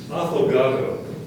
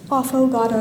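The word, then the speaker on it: affogato: yes okay our next word is aato afogado it's a noun it means an Italian desert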